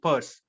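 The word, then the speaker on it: Peirce: people hardly go for such uh i mean purse okay uh yes charles sanders first dog yes that's good uh is pertz okay the name is pronounced pers so he came up with semiotics so sasha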